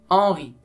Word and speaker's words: Henri: Henri oui très bien Henri h donne un son muet Henri on lit le reste comme s'il n'y a pas la lettre H phalange c'est le son